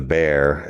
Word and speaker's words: Bexar: The bear but it's spelled Bexar.